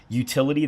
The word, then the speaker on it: Youtility: And then Sam, if you can on the screen put the books on, but the two books are Utility, that's spelled YOUTILITY, and then Hug Your Haters.